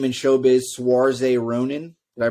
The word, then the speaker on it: Saoirse: And the best name in showbiz, Saoirse Ronan. Did I pronounce that right?